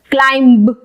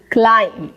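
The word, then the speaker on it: climb: आ रहा है, और जनरली जहां पे M और B का कॉम्बिनेशन आता है वहां पे हम B को रखते हैं साइलेंट। ये बन जाएगा क्लाइम, क्लाइम, क्लाइंब नहीं, क्लाइम। प्लम्बर, प्लम्बर, प्लम्बर नहीं, प्लम्बर। टोम्ब नहीं, टूम, टूम।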